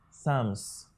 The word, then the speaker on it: psalms: l m s now ordinarily you can say for sums okay but is that the way it is pronounced certainly no this word is pronounced sums what happened to the p here it is island okay now we are